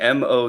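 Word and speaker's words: Mowat: show Brian how did how did I do pronouncing m o u a t mo mo as in Farley Moet he's a Canadian author so okay I was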